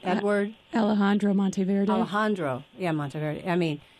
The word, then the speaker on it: Alejandro Monteverde: Alejandro Monteverde.